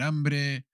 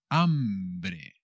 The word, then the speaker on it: hambre: hungry subir hungry tener hambre hambre tener hambre o apetito hambre con la h que no se pronuncia que como siempre es muda tú ves feeling hungry